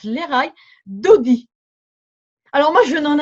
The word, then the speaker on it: Lekha: On prononce Léraï en hébreu, ça s'écrit L-E-K-H-A, mais ça se prononce Léraï, Dodi.